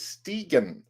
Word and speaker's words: Stigen: The proper pronunciation for your surname is Stigen.